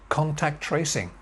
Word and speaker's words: contact tracing: And finally, contact tracing. Contact tracing. 4 syllables. Contact tracing. Main stress here, contact tracing.